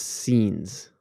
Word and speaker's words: seines: I'm gonna blow the pronunciation because it's it's Seines. It's scenes. Yes, that's how you say Scenes.